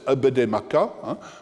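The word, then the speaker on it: Apedemak: Enfin, le nom du créateur dont nous avons parlé tout à l'heure, qui est Apede Maka, prononcé Abede Maka, le dieu Maka Abede,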